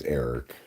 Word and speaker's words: Eric: totally unrelated matter is Eric you know rhymes with Derek Derek and rhymes with